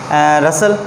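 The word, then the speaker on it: rustle: कभी साइलेंट होता है, जैसे कि रसल, जो हम क्या रखते हैं? रसल, RUSSTLE, रसल। रसल में जो है वो T साइलेंट है।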